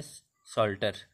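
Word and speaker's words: psalter: अगला है सल्टर, पी एस ए एल टी आर, सल्टर, सल्टर बोलते हैं भजन ग्रंथ को।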